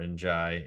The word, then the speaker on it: Ndiaye: Iliman Ndiaye from or Ndiaye, feels like the way they pronounce Ndiaye or Njai in the United States is way different than they do in European football. I would trust probably the Europeans better.